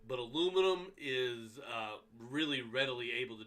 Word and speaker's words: aluminium: But aluminum is really readily able to do it.